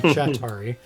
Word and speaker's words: Chetiry: So one more question about Chetiry, which is how it's pronounced properly, because Atari, Chetiry. So it's a little mix of the Russian word for four.